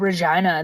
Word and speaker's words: Regina: but I live in a city that rhymes with vagina it just starts with an R yeah it's because I